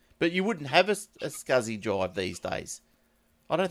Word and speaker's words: SCSI: right the right spelling SCSI is it what we're talking about scuzzy people pronounce it that way this small computer system